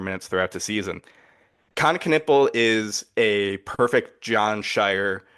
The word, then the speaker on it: Knueppel: Con Knipple was the same thing. Nick Hamenia, because we know the K is silent now.